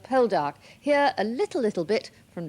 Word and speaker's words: Poldark: 20,000 Cornishmen will tune in to the BBC if you will show Paul Dark again with the lovely Cornish sea. A charming Cornish pronunciation of Poldark.